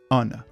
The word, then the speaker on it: honor: Maintenant, lorsque le H est muet, d'accord, on va pas le prononcer, ici, ça va donner awa, awa. Donc, c'est bien un son de voyelle. Ou encore, honor. Je n'ai pas dit honor, j'ai dit honor. Donc, honor. Voilà pourquoi on va utiliser